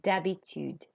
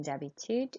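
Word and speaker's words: d'habitude: done if you said Debbie tude so we don't pronounce the H in Debbie tude it's like it's just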